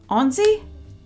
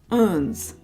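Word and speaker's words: onze: Onzi? Is that right? Onzi? No, that doesn't sound right. Onzi is 11? No. Uns. Everybody's saying O-N-Z-E, but am I saying it right? 1, 2, 3, 4. Oh. Everything I learned in high school, melting away. Just gone. Uns. Okay. Uns.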